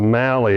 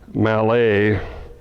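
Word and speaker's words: Mallet: I and and reliable the the Mali is an American Distortion of the pronunciation of the man that invented the concept of two engines under one boiler the front one being articulated Malay Mr Malay was French I think in the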